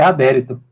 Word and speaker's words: Adérito: O seu nome se pronuncia Adérito? É adérito. Tem acento. É porque no chat aqui aparece sem acento, mas é adérito.